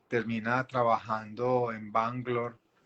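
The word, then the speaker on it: Bengaluru: y termina trabajando en bangalore o bangalore es como le conocemos por estos lados la pronunciación en hindi correcta es bang love como superintendente de los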